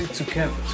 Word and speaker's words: tsukemen: So how do you say tsukemen?